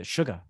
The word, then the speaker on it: Suga: um what's the one the suga from bts that's how his name is pronounced we'll take it uh